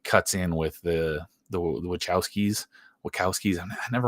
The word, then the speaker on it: Wachowski: Um, Wachowskis would I think it's Wachowskis with with a c I mean I know it's spelled with a ch but I'm pretty sure it's Wachowskis.